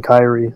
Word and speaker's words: Kyrie: It's two syllables rather than three, and everyone knows Kyrie Irving, so I catch myself. I mean, I'm saying Kyrie now.